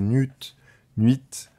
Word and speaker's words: nu1t: le follower aller voir c'est très intéressant c'est nude 8 alors ça s'écrit NU1 t voilà et vous allez voir